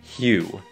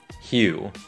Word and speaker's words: Hugh: Tên của diễn viên này thì các bạn hãy bỏ qua hai phụ âm cuối và thêm một âm Y ở đây. Hugh. Hugh.